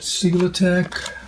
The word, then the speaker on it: SELITAC: these gaps in first look at the underlying single attack that's how it's pronounced and this is a underlayment that is